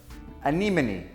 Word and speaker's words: anemone: Anemone. É anemone. Olha, nem o Nemo sabe pronunciar.